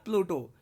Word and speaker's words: प्लेटो: पौ से हो गया प्लूटो, यानी कि प्लेटो या प्लूटो बोल सकते हो।